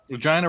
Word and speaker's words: Regina: she lived in Regina yeah Regina rhymes with vagina yeah it's the city